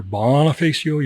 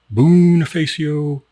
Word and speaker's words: Bonifacio: And it's pronounced all kinds of different ways. You'll hear Bonifacio, you'll hear Bonifacio, all kinds of stuff.